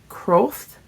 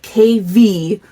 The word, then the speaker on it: Kvothe: And I think it's day 1 of listening to, I think how you say his name is like Croth. It's like Kvothe. And so we're listening to his story because he's something very important.